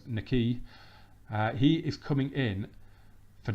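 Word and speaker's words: Nahki: was agreed this one Nikki wells that is how you pronounce it it's not Mackay it's Nikki he is coming in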